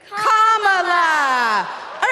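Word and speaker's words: Kamala: do you pronounce it first you say comma like a comma in a sentence then you say la like la la la la la put it together and it's 1 2 3 comma all right so let's practice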